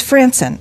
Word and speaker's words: Frantzen: How do I say, is it Frantzen? Frantzen of Delta Business Services. Frantzen, yes. It's Frantzen.